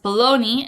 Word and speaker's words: bologna: Bologna is pronounced bologna, and it is a type of meat.